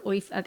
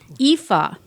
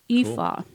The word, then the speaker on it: Aoife: pretty much ignore the first two letters when you pronounce Ignore the it first and two letters. simply say Aoife.